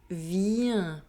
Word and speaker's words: viens: This ending INS is pronounced un. Je viens.